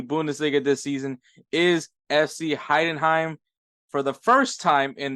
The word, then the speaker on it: Heidenheim: Man, this is going to be a true testing of my pronunciations. Eintracht Frankfurt, Cologne, SC Freiburg, Heidenheim. That's we want to say Heidenreich for some weird reason.